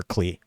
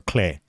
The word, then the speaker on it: Klee: Technically, it's spelled Clay in Japanese, so I think it's that way in like Chinese as well. But Klee is the easiest way to actually look, because that's the way it's spelled in English.